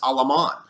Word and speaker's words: Alamán: Their leading light, opposite of, say, Lorenzo de Zavala, is a prominent man named Lucas Alamán, A-L-A-M-A-N, Lucas Alamán.